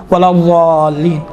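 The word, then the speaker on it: الضالين: ضین آتا ہے، ولا ضالین، ضا نہیں، ولا ضا، یہ آپ تصور کریں دال جیسا ادا ہو رہا ہے، دیکھیں ولا ضالین، ہاں یہ انشاءاللہ تعالیٰ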